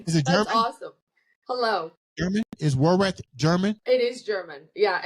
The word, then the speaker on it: Worath: I'm gonna see if we can pronounce this last name right. Worth it. Worath.